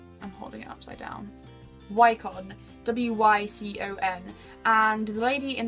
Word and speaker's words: Wycon: And this is an Italian brand of makeup, and I think it is pronounced Wycon, but I might be wrong. I'm holding it upside down. Wycon, W-Y-C-O-N, and the lady